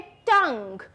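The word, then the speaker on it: tongue: अब है टंग. टंग में हमें साउंड सिर्फ इसका आता है UE साइलेंट होता है तो हम उसमें ही सिमिलरली वेग बना सकते हैं और मॉर्ग बना सकते हैं.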